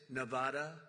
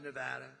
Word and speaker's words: Nevada: You mispronounce the name, you got a problem. You ever see somebody when they say it's Nevada? Nevada? No, they're in deep trouble. I want to come to Nevada to pay my respects because this is the